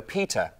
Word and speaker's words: PETA: It's pronounced PETA as opposed to PETA, which is one of the most common questions I get.